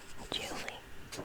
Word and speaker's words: July: July used to rhyme with truly. It was like Julie maybe.